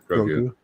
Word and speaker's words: Grogu: Grogu.